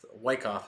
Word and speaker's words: Wyckoff: but I know that I have to say Wyckoff because Wyckoff is the correct way to say it. So don't listen to me in part one with the way I was pronouncing that. It's Wyckoff.